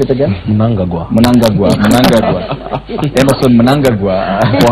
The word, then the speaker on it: Mnangagwa: Pronounce it again? Mnangagwa.